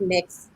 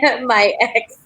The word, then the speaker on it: MYX: It's just letting people know that it's pronounced Mix, and not my ex.